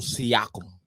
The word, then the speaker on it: Siakam: Pronounce it. Say it. Pascal Siakam.